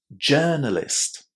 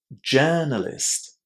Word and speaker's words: journalist: Journalist. Journalist. What did you hear in this first syllable? It was a long air sound, wasn't it? Journalist. Remember to say it with a long air, not o.